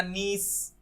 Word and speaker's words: niece: Spelling का इसमें देखिए फिर इश्यू हो गया, NIECE सही है, तभी कई लोग इसे नाइस प्रोनाउंस कर डालते हैं, बट एक्चुअली इसका प्रोनाउंसिएशन होता है नीस, NIECE नीस।